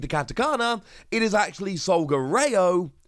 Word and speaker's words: Solgaleo: katakana, it is actually Solgareo, not Solgaleo. The R sound in Japanese is often translated and used over here as a L sound instead.